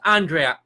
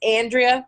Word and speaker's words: Andrea: Martin that's it you know yeah it's not pronounced Andrea apathy people call you under there some people do and it whatever they feel comfortable ha they want to pronounce it but it is Andrea that's the proper pronunciation a proper so more